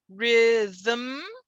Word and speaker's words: rhythm: it but not always when i say rhythm rhythm this is a syllable without a vowel right because the m is being